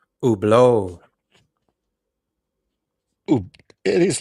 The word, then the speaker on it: Hublot: So it's Hublot, the H for some reason, because you got to remember these Swiss, they're French speaking. So a lot of the French pronunciations, Hublot.